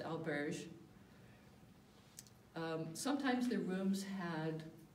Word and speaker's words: auberge: In Spain, the word is albergue. In France, it's the same word pronounced auberge.